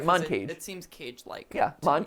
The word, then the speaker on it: Moncage: are we playing today i've never heard of this montage montage montage i personally would pronounce it mon cage mon cage your channel